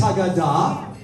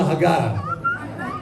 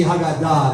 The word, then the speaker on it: Haggadah: Some of you are old Ashkenazi Jews, and you say, open the Haggadah. Right? I get it. But the modern pronunciation would be Haggadah, the accent being on the end.